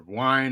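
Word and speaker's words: Wiene: So I was talking about Robert Vine or Wine, however you want to pronounce it.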